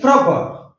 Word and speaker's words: proper: And proper, the stress will come before P.